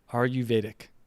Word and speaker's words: Ayurvedic: Ayurvedic. That's how you pronounce it.